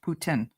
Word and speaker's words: poutine: How memes spelled it is how it's correctly spelled, but it is pronounced poutine. Other people will pronounce it differently, but they are wrong.